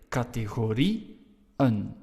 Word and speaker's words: categorieën: To show that we have to pronounce IE and en separately. So you say categorieën.